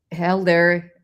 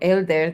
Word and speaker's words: Helder: So Helder, or Elder, depending on how you pronounce it in Spanish or in English, has been participating with